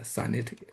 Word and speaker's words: Sinitic: I just learned to pronounce this maybe the right way. I always pronounce it as Sinitic, but a Sinitic language.